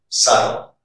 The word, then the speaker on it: subtle: And the second rule you should remember is the letter B is not pronounced before the letter T. For example, doubt, debt, subtle, doubtful.